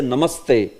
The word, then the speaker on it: Namaste: you will say namaste Namaste how will you speak Namaste Namaste directly straight you know no pause between Nam Sante although it is showing